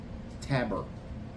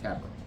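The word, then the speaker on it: Tabor: Taber, I believe is the way you say it. Chris Tabber. Tab. Yeah, Tabber.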